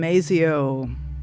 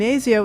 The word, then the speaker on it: Miezio: That's and masio is spelled m i e zio.